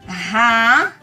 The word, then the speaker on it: Raiz: E a letrinha Z, se ela estiver no final de uma sílaba, ela não muda o seu som. Quer um exemplo? Vou tentar formar aqui. Raiz. Raiz. Veja, nós temos aqui duas sílabas. O Z está no final de uma delas. Raiz. Não tem som de S, mantém o som de Z.